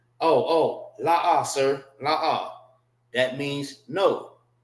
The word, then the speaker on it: La'ah: Now for this, it's pronounced separate. La, and ah.